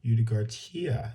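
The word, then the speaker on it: Ugartechea: It's Colonel Domingo de Ugarcia. That's a weird word. Let me spell it for you guys.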